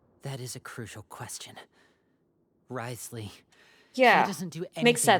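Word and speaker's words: Wriothesley: how you sp sp how you spell Risley it's just easier that way they type all these Keys oh my gosh and it just say two syllables you are not from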